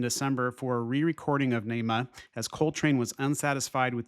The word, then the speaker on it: Naima: Naima, pronounced by Coltrane himself as Naima, but often spoke as Naima, was written for his wife, and Syeeda's Song Flute, written for his stepdaughter.